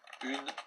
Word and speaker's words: une: J'ai acheté une douzaine de. J'ai acheté une douzaine de. Très bien. Attention à une. Vous avez dit une, mais on prononce en une seule syllabe.